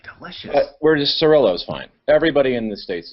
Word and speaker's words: Cirillo: we're doing the show with robo tube cirillo is that you did i say your